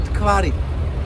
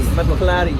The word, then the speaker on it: Mtkvari: in Georgian we call this worm Tkvari. Clary. Tkvari. Matlak. Okay, I know it's difficult to pronounce for Clary. Matlari. I tried. No. Mtkvari. Matlari.